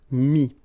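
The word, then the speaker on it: mis: And then mettre, to put, so ETTRE will give you this IS, mi, same thing here, final S is not pronounced, mi, okay.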